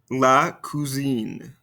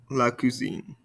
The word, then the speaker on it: cousine: And listen very carefully and repeat very carefully because there is a pronunciation difference in between these two. Répétez-moi, le cousin, la cousine. Le cousin, la cousine.